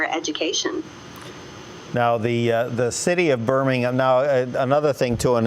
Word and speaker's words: Birmingham: How do the folks in Alabama pronounce the name of the city? Birmingham.